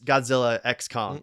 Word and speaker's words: Godzilla x Kong: Adam winguard revealed that the X in the movie title is silent both stands for collaboration